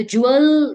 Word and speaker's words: jewel: तो जूअल, देखिए जूअल लिखा है पहले, तो इसका प्रोनाउंसिएशन बहुत ध्यान से देखिए, जूअल्स, ल से पहले थोड़ा साउंड आ रहा है, जूअल, हल्का जूअल।